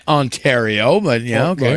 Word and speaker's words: Ontario: Okay, so, yeah, he said it wrong. It's Ontario, but yeah, okay.